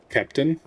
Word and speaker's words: Captain: A in Captain is pronounced like eh. Captain?